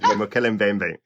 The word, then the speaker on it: Mokele-mbembe: Mokele-mbembe.